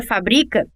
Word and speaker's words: fabrica: ser falada e escrita já na palavra fabrica que é paroxítona a sílaba tônica é bri e é a segunda sílaba da palavra ótima